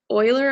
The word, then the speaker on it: Euler: If you're a math person, Project Euler, I think it's pronounced, is a very great way to transfer from generic math concepts into programming problems.